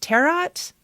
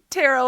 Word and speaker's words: Tarot: Terat. Terret. Terret. I was like, "Oh my god, you are just the cutest thing." Tarot as in tarot cards.